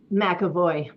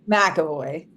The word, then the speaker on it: McEvoy: How do you pronounce how do you say your last name? Makavoy. Makavoy. Um, even though it's just a little MC, a little MC there.